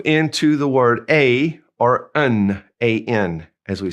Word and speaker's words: un: First of all, we have un, U-N, and we're going to push that in through our nose. It's a nasal.